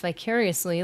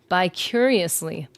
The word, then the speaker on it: vicariously: I know a guy who mispronounced vicariously, like living vicariously through someone. He thought it was pronounced by curiously.